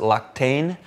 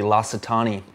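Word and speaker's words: L'Occitane: people would I think they want to pronounce it Loctane but I think it's actually Latitani and um it's a really really nice scent.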